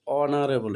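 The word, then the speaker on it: honourable: ইজ ডশ অনারেবল ম্যান উচ্চারণটা হচ্ছে অনারেবল এইচ এর উচ্চারণ কি কিন্তু এখানে হচ্ছে না কি হচ্ছে অনারেবল সর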